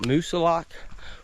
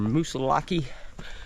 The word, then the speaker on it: Moosilauke: Right now I'm at the base of Mount Moosilauke, or Moosilauke, however you want to pronounce it.